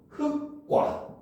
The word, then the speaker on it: 흑과: 여기에 과가 합쳐졌으니까 기읍 때문에 기읍이 쌍기읍으로 발음돼서 발음을 하면 흑과 이렇게 발음해야 된다는 거죠.